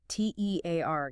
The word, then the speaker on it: tear: T E A R gives us tear rhyming with here or fear.